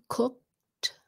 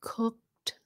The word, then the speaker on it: cooked: in that c sound cooked so it sounds like a tea at the end cooked other words where it